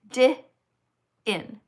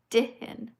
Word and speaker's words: Din: Hey Isaac, thank you for the donation, 5 lb, and you write Isaac Din, pronounced dih in, Din.